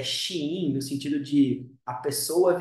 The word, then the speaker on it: Shein: Shein dá mais um passo rumo ao IPO nos Estados Unidos.